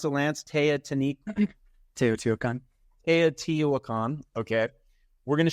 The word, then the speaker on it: Teotihuacan: But that's, how do I pronounce it, Lance? Teotihuacan.